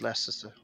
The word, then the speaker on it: Leicester: Yeah, You- it's Leicester.